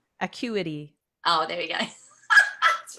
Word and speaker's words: Acuity: you probably have too, equity scheduling. Yes. Changed my life. Isn't it? It is. I couldn't live without it. Yeah. We both use equity scheduling. Am I pronouncing it correctly? Acuity.